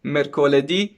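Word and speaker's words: mercoledì: it or not but from monday to friday the stress is on the last syllable of the word so you can say like this lunardi marte di mercoledi okay and then for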